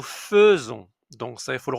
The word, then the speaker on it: faisons: Elle fait nous attention à la prononciation, c'est pas faison. Mais nous faisons donc ça, il faut le retenir aussi.